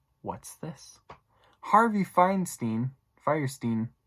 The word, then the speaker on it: Fierstein: this is Harvey Fierstein I said his name wrong the first time we'll say they write this time Fierstein ah he was cast